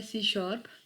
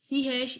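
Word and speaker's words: C#: Then हमारे पास क्या है, सी शार्प. सी हैश इज़ a pronounce as सी शार्प. इसको हम सी शार्प सी हैश, ये बेसिकली साइन क्या है, हैश का है, लेकिन इसको प्रोनाउंस करेंगे सी शार्प.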